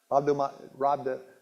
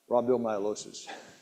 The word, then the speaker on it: rhabdomyolysis: Most people can't pronounce it. Rhabdomyolysis. That's it. Rhabdomyolysis.